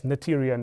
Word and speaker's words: Noether: point is that the the h is really silent so it's not a th it's a t and this is like a single vowel Okay. So the the name is Na. So I guess Nyion is the closest English version of it. Okay. You can pronounce it whatever way you want, but I would say Nyion is somehow the the way.